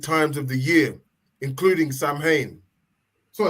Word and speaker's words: Samhain: or astronomically important times of the year including Sam Hayne. So it's spel but it's pronounced sin. So that word is sin.